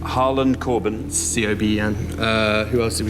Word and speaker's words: Coben: Harlan Coben.